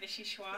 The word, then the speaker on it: vichyssoise: And Frances, I'm glad you said vichyssoise. Is that how you say it, vichyssoise?